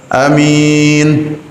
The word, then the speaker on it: Amin: Yang pertama, A-nya pendek. Amin. Boleh.